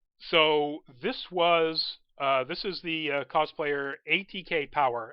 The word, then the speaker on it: ATKPWR: So this is the cosplayer ATK Power, and I pronounce it Power, but it's ATKPWR. I'm assuming it's ATK Power.